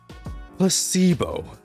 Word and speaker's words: placebo: today repeat after me Placebo the stresses is the stress is on the middle still placebo Splendid it's so Charming